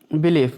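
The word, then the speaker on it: belief: अब देखिए आई ई का उच्चारण अधिकतर शब्दों में बड़ी ई होता है, तो ज़्यादातर शब्दों में बड़ी ई होगा। जैसे उदाहरण बिलीफ, वी ई एल आई ई एफ।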